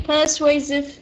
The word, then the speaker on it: persuasive: Okay, persuasive, this is the correct pronunciation because I can hear that you are having troubles pronouncing this word.